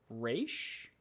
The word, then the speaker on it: Ra's: Also, I'm pretty sure it's pronounced Raish?